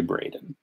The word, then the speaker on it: Braden: My name is Braden. It's Brandon if you can't pronounce it. But it's actually Braden. Like Dallas Braden or yeah, I don't know about anyone else.